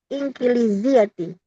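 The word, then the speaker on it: إنكليزيةِ: La, hiya bil lughatil inkiliziyati. Ini dibacanya ingkili apa inkili, Ustadz? Inkili, betul. Inkiliziyati. In ya. In juga boleh in. Nun zahir. Inkiliziyati.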